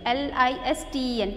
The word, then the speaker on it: listen: L-I-S-T-E-N. T is silent, children, here.